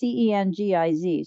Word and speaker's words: Cengiz: Khashoggi's fiancée, Hatice I don't know how to pronounce her name. It's Cengiz.